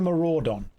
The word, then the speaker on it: Maraudon: The famous Mara Udon. Look, it is spelt. It is spelled M-A-R-A-U-D-O-N. Mara Udon. I am pronouncing that phonetically correctly. The U is silent.